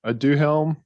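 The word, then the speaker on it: Aduhelm: some of this about this drug is pronounced i do helm so it took me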